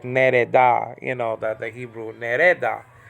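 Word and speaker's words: נֵרְדָה: I used to pronounce it like nerda, but I think it's really like nereda.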